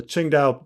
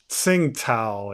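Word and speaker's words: Tsingtao: this chara you know the first character is ching the second character is dao pijo the ching dao ching dao pijo but if you didn't know better you you see this and you go oh it's sing tao and you're like no no that's not how you pronounce it at all so i don't even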